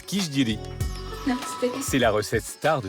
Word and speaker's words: khichdi: Et attention, ça s'écrit mais à l'indienne ça se prononce qui diiri.